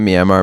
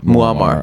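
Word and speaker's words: Muammar: Not Myammar. Mumar. Is it Gaddafi? Maramar. Muamar.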